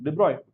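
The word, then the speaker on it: de Broglie: they proved de prediction because our man is French hence I'm saying Dey that's how they pronounce his name it was observed that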